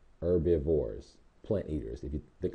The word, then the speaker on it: herbivores: okay they're also called herbivores the H is silent herbivores plant eaters if you